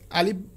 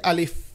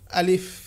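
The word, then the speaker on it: ألف: ভুল করে সেটা হচ্ছে আলিফ বলে শেষে প বলে উচ্চারণটা হবে আলিফ অর্থাৎ শেষে ফ আলিফ উপরের দাত যদি নিচের ঠোটের সাথে লাগিয়ে উচ্চারণটা করা হয় তাহলে উচ্চারণটা খুব সুন্দর হবে যেমন আলিফ পরের অক্ষরটা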